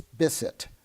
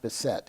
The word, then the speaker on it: Bisset: at me and said it's bissett not the set it rhymes with kiss it Wow put me in